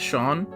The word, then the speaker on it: Seam: Oh boy, it's Shawn. But guys, don't be deceived. You pronounce his name Oh, uh, you pronounce their name as Shawn, but their name is actually their name is spelled like Seam.